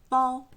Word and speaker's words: 包: Y se pronuncia 包 y lo que mostraba el pictograma original era un niño dentro del útero de su madre.